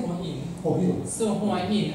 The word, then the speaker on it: Hua Hin: Hoi Hin? Hoi Hin, yeah. Wait, there's no other people. So, how do you say Hoi Hin? How do you say in Thai Hoi Hin? Say Hua Hin.